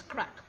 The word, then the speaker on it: craic: for the day and the pronunciation is crack now crack is an